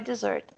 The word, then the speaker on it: dessert: Katie will buy dessert. Aqui, ó. A We'll buy. pronúncia, vou dar uma olhadinha na pronúncia dessa palavra. Dessert. Ó, dessert. Dessert. Sílaba tônica é a segunda, né? A última.